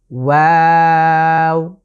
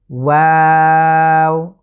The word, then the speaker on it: ওয়াও: এরপরে যে লেটারটি সেটা হলো ওয়াও। আবারও খেয়াল করুন, ওয়াও। আমি কিন্তু শুরুতে মুখটা গোল থেকে আবারও ওয়া আ যখনই যাচ্ছি তখন স্বাভাবিক হচ্ছে আবারও শেষে এসে আমি গোল করে ফেলছি, ওয়াও।